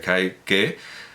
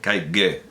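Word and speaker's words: Kaige: Bueno, pues en la película de Kai-ke, es que quiero pronunciar la G como más G, pero bueno, sí, vamos, Kai-ge, si queremos, Kai-ge, ge.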